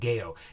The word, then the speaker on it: Geo: Spelled here Geo, but it's pronounced Geo.